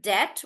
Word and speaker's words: debt: So in the word debt, we are not pronouncing the B sound.